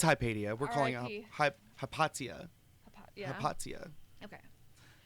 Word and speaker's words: Hypatia: ] god dude insane up kaipedia is considered the first which to be uh